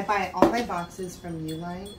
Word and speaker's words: Uline: all my boxes from uline it's u l i n e i'm assuming it's pronounced u-line could be unlined but i think it's u-line or a-line i don't know i call it u-line they are nine by nine by 12.